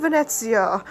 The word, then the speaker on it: Venezia: of course but in the case of fine venetsia most cultures seem to have taken a liking to the English pronunciation using the relatively gobbled Venice in its